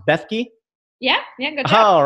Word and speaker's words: Bethke: And Gogo, is it pronounced Bethke?